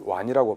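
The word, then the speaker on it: 和邇: 고사기에 나와 있는 화이길사, 화이를 일본 발음으로 하면 완이입니다. 왕인 역시 완이라고 발음이 되죠.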